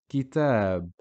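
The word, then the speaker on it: كتاب: So kaf here has a kasra, it's just short vowel ki, and then tab. Kitab. It's not kitab or kitab, it's kitab. Nar.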